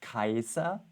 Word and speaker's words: Caesar: And now he quotes Cicero, which according to my Latin teacher is the right pronunciation, because Caesar was also not Caesar, it was Kaiser, which then in German became Kaiser, emperor.